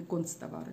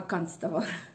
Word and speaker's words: канцтовары: Я занималась канцтоварами, и вот в рамках канцелярских товаров, кстати, правильно говорить канцелярские товары, а не концтовары, как многие говорят, а канцтовары.